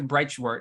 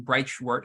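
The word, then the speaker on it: Breitschwerdt: with the professor professor breitshwart and probably putringer's name bright short I believe is how you say it he's from NC State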